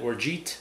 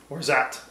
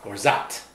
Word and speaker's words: orgeat: I called it orgeat, and the correct pronunciation is? Orzat. Orzat. Orzat. Or that. This is according to who? Merriam-Webster.